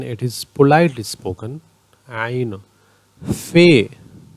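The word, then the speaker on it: ف: Fe, Fe or Fa, both are correct, but generally in Pashto it is called Fe. Qaf, it is pronounced at the inner throat.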